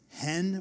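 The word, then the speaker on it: חן: It's in Hebrew, if you pronounce it, it's hen with a little at the front end of it.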